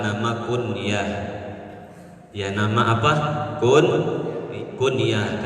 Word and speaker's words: kunyah: Kalau tulisan bahasa Arabnya kaf, nun, iya, ta, kunyah. Tapi kalau ditulis pakai bahasa Indonesia, huruf k, u, n, y, a, h, dibacanya kunyah. Tapi yang harus pakai kata sambung k, u, n, kata sambung y, a, h, namanya kunyah.